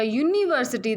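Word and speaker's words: university: वो कैसे पढ़ा जाएगा, यूनिवर्सिटी। दैट मीन्स ये वाई से आ रहा है, ना कि किससे आ रहा है, यू से।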